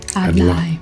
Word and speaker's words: adlai: Adlai. Yes. Adlai. Adlai. I heard them say it like that. Adlai.